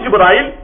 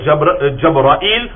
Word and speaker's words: Jibril: Maintenant, Jibril, on peut le prononcer de plusieurs façons. Ibn Hajar al-Asqalani, il mentionne 13 façons dans son livre. Par exemple, on peut dire Jibril, on peut dire Jibril, on peut dire Jabrail, on peut dire Jabrail, on peut dire Jabril, Jibril.